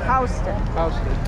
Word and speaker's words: Houston: you don't pronounce it pronounce it houston it's pronounced houston yep here we go huds we're walking okay